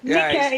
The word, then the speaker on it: Nika: Nika is the pronunciation. It's a Nigerian name, yes.